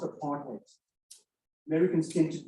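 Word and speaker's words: apartheid: in the room apartate and the word is pronounced apartate Americans tend to pronounce this aart height it's apartate and literally it means apartness separateness complete in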